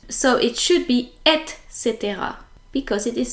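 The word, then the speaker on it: etc.: the same in English most French people actually pronounce it EXC as if the C and the T were reversed so it should be Etc because it is spelled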